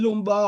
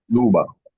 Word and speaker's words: Luba: is I pray the is the pronunciation lumba or luba luba sorry luba bless said in Luba's